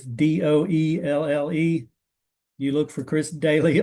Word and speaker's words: Doelle: My name is spelled funny. Last name's pronounced Daly, but it's Doelle.